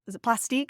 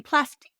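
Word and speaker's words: Plastiq: use a service like plastic is that how they pronounce it either way it's p-l-a-s-t-i-q I believe so sounds French so it should be plastic yeah so that is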